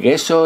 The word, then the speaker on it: gesso: el gesso, que es que se pronuncia yeso porque la palabra es italiana.